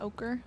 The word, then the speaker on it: ochre: It's almost like a deep yellow ochre. Is that how you say it? Yeah, ochre. Nice.